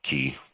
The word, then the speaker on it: ki: I mean, honestly, a closer pronunciation too is just more like key. So, homonym, broken key. Oh, well, technically it's also broken chi because it's about the flow going into my space, and it's just broken every possible way. So, well, yeah. I meant the word chi as most people in English pronounce it, but in like kind of more traditional pronunciation would just be key.